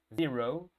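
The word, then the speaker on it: zero: Z, 0, ¿ok?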